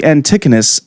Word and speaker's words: antechinus: Well, this one, how do you say that? It's actually antechinus.